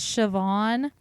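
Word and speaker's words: Siobhan: I said seori uh there's a name that's Irish it's sioban but it's it's spelled s i a o b h a n so that's why I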